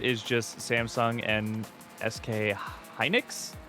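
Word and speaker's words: Hynix: The entire market is just Samsung and SK Heinix. Hinix. Is that how I pronounce that? I question it because I like want to pronounce things certain ways. Yes. Heinix.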